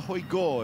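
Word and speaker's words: Højgaard: Out of the Hoi Gore, if we're going to give them their Danish pronunciation, brothers.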